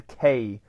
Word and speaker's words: Kresser: Kresser is with a KRESSER, Kresser, like that.